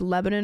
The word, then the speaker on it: Lebanon: But there's Lebanon, Oregon. Yeah. Not Lebanon. Lebanon, which I maybe at one point, but it's Lebanon, but you say it like you're trying to mush all the letters together.